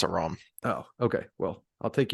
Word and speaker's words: Aram: I always said Aram, I but always did too, but I'm pretty sure that I looked up the pronunciation when we started doing this, and it's a Rom.